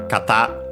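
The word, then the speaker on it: 型: Which should be actually, of course, as usual, kata. By the way, accented actually on the last syllable.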